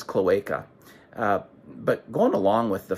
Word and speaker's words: cloaca: I occurred to me I didn't really know how to pronounce cloaca and I had to re-record all of the narration because I had been saying cloaca so that that just shows to you I am no expert I actually had been pronouncing the word wrong for the the last two or three years while I've been following beavers so the word is cloaca but going along with